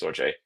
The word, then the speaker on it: Storj: Storj, it's technically called Storj, pronounced Storj.